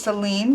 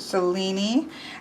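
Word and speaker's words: Selene: Here we have Cellini, which I would have thought was Celine, but he pronounced it Cellini.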